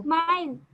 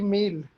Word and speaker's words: mile: का, किलोमीटर के अलावा एक और होता है MILE, इसको क्या प्रोनाउंस करते हो? MILE, इसको माइल। माइल। क्या करते हैं, जल्दी बताओ। सर माइल। माइल माइल। की माइल की मील? माइल। माइल। माइल, माइल माइल होता है, मील नहीं होता है रे गधा, मील